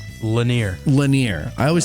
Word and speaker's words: Lanier: Lanier.